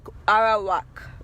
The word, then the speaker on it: Arawak: Let me pronounce it correctly before you guys take me to pronunciation court. Okay. Um so Ara Arawak Indians, he said, "What about the Arawak Indians?"